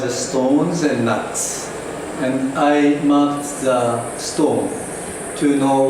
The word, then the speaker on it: Ai: So laboratory work since 1977, so this is 39 years old long-running project. That is called AI project because of the female chimpanzee named Ai, spelled AI. Pronunciation is I, and the meaning is